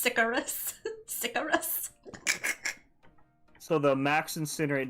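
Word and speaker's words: Sicarius: that and send it to brandon icarus is pronounced sicarious cigarettes so the max incinerate damage is about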